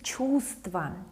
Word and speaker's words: чувств: Well, one of them we don't pronounce, this v. It's like, it's a silent consonant.